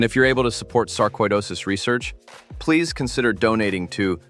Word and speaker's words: sarcoidosis: The word is sarcoidosis, not sarcidosis. Sarcoidosis, koi, like the fish, except this version comes with specialists, scans, and a medical file that keeps gaining weight.